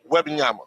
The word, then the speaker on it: Wembanyama: Well, how you pronounce that boy name again? Wembanyama.